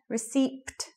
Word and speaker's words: receipt: Receipt, another silent letter.